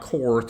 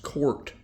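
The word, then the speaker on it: Korth: It's not Court, it's pronounced Court revolver, and this is made by a company that was started in 1954 by a gentleman named Willie Court.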